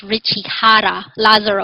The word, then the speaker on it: Jara-Lazaro: everyone my name is Ritchie Hara Lazar also the J is pronounced like an age the the this this